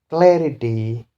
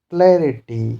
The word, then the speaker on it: clarity: Then another rule is if there is a three syllabic word which end in y or a consonant then the stress will be on first syllable. See, these words are the first one, clarity, clarity, three syllabic word but ends in y.